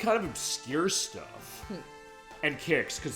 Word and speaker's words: QIX: It was emulation questions, but for this one, Kicks is in here as far as the original QIX, as far as how that's spelled.